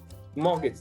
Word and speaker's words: mortgage: market mortgage that's correct the letter t here is silent and you know if she look uh this is just how the english language is sometimes it's really awkward sometimes it's funny as i said there are no rules to apply on which letters are silent but in this specific word the silent letter is t you don't call it a mortgage you just call it